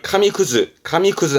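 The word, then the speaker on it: 紙屑: 이런 거를 카미쿠즈 합니다. 뒤에가 잘라진 거네?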